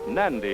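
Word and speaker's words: Nadi: native policemen n AI is pronounced nandy in the Fijian language fijians are means and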